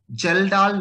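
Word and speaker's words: Kjeldahl: Then comes the term is the total geldal nitrogen. K is silent here.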